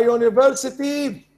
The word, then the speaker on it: university: So we say now university with A, not N. Although we have an apple and we have an uncle, an umbrella, and so on, but again, وصلنا لفكرة إنه sometimes a vowel letter is not a vowel sound. It can be a consonant sound.